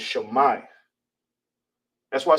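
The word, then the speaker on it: שמע: Pronounced shama in ancient Hebrew, written in ancient Hebrew is shay.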